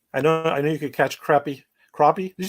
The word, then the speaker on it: crappie: Yeah, I love crappie. I know you could catch crappie. Crappie? Did you say crappie or crappie? Crappie. Crappie? Yeah, we always pronounce it crappie here, but some people say crappie.